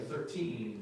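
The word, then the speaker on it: thirteen: Yeah, just FYI, y'all, for your information, yeah, the smaller numbers are on that second syllable, and the larger numbers are on that first syllable.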